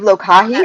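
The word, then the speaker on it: lōkahi: it's amazing and live live lokahi like live lokahi is that how you say it perfect yes this is kohai what does lokahi mean great question so lokahi is a hawaiian value and practice that means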